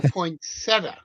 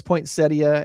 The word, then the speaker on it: poinsettia: So So um is it poinsettia or poinsetta? See that's the big I'm I'm of the I'm of the mind it's poinsettia. Everything I've heard is poinsettia and that's how it is spelled.